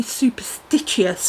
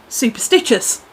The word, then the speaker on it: Superstitchious: I called your company Superstitchious, and it's not. It's actually just pronounced Superstitchious. Ha ha! Like the word, it's just spelt differently.